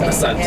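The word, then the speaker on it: Asante: So the pronunciation Ashanti is European. Yes, the British. So even that spelling, the SH, mm-hmm. is European. It's European. So proper word is Ashanti. S-A-N-T-E. Yeah, N-T-E.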